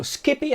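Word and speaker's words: SCPI: s c b i it's called also skippy understand so that's how we'll be pronouncing it today and that actually gives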